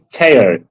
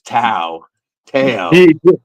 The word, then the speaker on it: Teao: Her name's Teao. Tea. Okay. So, I mispronounced it. I I mispronounced it. He asked me the other day. I've always read it as to tail.